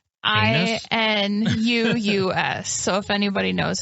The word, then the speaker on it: Inuus: Inus? INUUS. So if anybody knows how to pronounce that. INUUS. Pretty sure it's just Inus.